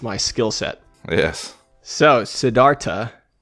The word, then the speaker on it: Siddhartha: So, Siddhartha, not Siddhartha, apparently. Both David and I have been mispronouncing this book our entire lives.